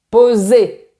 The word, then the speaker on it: Posé: En revanche, il y a un accent à la fin de votre nom de famille. Donc il faut dire poser.